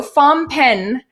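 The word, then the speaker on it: Phnom Penh: butcher everything they say so phampen okay it looks like that's that's the right way to pronounce it so anyways phone pen so they took people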